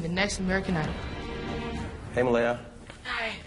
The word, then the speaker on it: Malaya: little self being the next American I hey Malia hi it's Malia it's Malia Malia I'm sorry thank you it